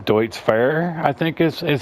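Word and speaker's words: Deutz-Fahr: Now, forgive my mispronunciation. Deutz Fair, I think is how it's pronounced.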